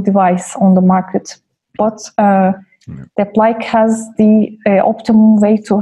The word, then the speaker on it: Deplike: As I said, Deplike, that's how we pronounce it in our language, but...